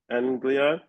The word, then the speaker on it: East Anglia: And how do you pronounce that word? East Anglia Anglia when she was awarded the Malcolm Bradbury memorial b sorry and won the UEA Orion short story prize.